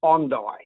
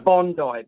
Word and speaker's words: Bondi: And we actually pronounce it Bondi. So, it's Bondi Beach, not Bondi. Did Did I say Did I say Bondi?